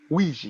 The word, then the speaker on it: Ouija: Ouija. And it's pronounced Ouija, and it starts with an O.